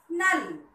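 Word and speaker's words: नल: Listen, when there is no long sound at the end of the word, the last sound a is not pronounced.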